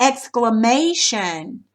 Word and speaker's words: exclamation: So you're going to put the accent mark after claim because it's exclaim. But what about exclamation? It's going to go over the may part.